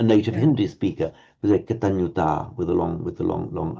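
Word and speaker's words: kataññutā: within their own tradition, but be aware when you hear a Sri Lankan pronouncing this Katanyuta, say, hang on, that sounds like a short ah to me. No, if they'd really been trying to do a short ah, they would have said Katanyuta, the sound, but Katanyuta is okay.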